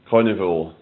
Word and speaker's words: Karnivool: It's spelled Karnivool. Carnival.